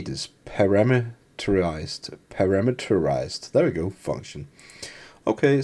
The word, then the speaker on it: parameterized: Par param how do you say this parameterized parameterized there we go function okay so we Define